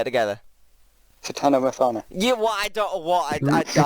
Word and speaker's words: Tatiana Maslany: Tatiana Maslany's great.